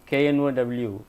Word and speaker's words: know: For example, in some of the words in English, KNOW, K is silent.